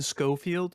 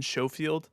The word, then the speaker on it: Schofield: is developed by glenn glenn schofield glenn shofield i've heard it pronounced both ways i i you know i'd love to ask the guy how do you pronounce your last name yeah we'll we'll say scofield because i like that better uh anyways is striking